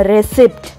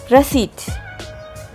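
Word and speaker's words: receipt: இதை நம்ம ரெசிப்ட் இந்த மாதிரி ரெசிப்ட் ரெசிப்ட் இந்த மாதிரி சொல்லிகிட்ருக்கோம். அது தப்பான ப்ரொனன்சியேஷன். ஸோ எப்படி ப்ரொனவுன்ஸ் பண்ணணுன்னா ரெசிட். அண்ட் the last one is dengue.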